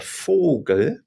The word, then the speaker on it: Vogel: Then we come back to vowel, the letter V in German, and it's pronounced, if you can remember, like letter F in English. So this is der Vogel.